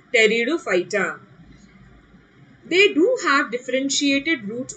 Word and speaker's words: Pteridophyta: Pteridophyta, don't say Pteridophyta, huh? P is silent. Theek hai bachcho, yaad rakhna, P is silent. So it is Pteridophyta.